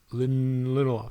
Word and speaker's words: Lindelof: the scenes, a man holding the pen, Damon Lindelof. Lindelof. I gotta say it fast because I can't remember exactly how it's pronounced.